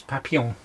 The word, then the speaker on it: papillon: It's French, isn't it? I didn't realise the word was French. It's French for butterflies. It's papillon.